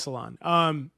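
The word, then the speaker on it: Salaün: It is Salon.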